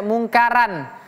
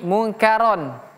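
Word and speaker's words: منكرا: Ini juga sama rnya tebal tidak boleh kita baca munkaran tapi munkaron. Ro ro tidak ada ra dalam bahasa Arab bukan ra tapi ro.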